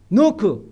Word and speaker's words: knock: K는 뭡니까? knock. K가 묵음이죠. knock, 문을 두드리라.